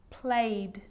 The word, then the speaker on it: played: But a lot of the time, that E isn't pronounced. Looked, asked, played, baked, wrapped.